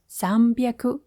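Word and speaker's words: 三百: Fun fact, the reading of this character changes based on the number that precedes it. For example, Zambiaaku is 300 andaku is 600. This sound change called renaku keeps your counting lively.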